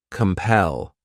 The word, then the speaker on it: compel: next verb is compel this word has two syllables and the stress is on that second syllable compel what it means means is